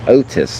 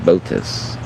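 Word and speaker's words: Botis: Okay, it's pronounced Otis, not Botus.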